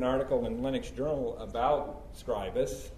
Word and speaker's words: Scribus: You know, even I pronounce it as I thought it was supposed to be pronounced, but this is the pronounced Scribus according to Franz.